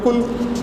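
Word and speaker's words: قُلْ: পরিষ্কার করে বলে দেন নুক্তাওয়ালা লাম যুক্ত হয়ে পেশ যখন হয় এটার উচ্চারণ হবে কুল তখন এটার অর্থ হবে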